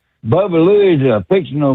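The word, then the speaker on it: Baba Looey: It's not Baba Buoy. It's pronounced Bubba Louie. Bubba Louie is a fictional M Mexican donkey that appeared in the Quick Draw McGraw show.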